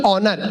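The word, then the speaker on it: honor: अब ये बोला होनेस्ट नहीं ऑनेस्ट, होनर नहीं ऑनर, इसमें एस साइलेंट आता है।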